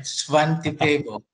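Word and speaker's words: Svante Pääbo: Svante Paabo.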